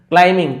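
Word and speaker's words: climbing: यही है, MB यदि एक साथ है तो हम बी को नहीं पढ़ते। वैसे देखिए क्लाइंबिंग नहीं पढ़ेंगे, क्लाइंबिंग, तो बी यहाँ पे साइलेंट है।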